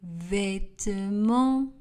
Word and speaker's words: vêtements: Je plie les vêtements. Le T et le S à la fin du mot vêtements ne sont pas prononcés.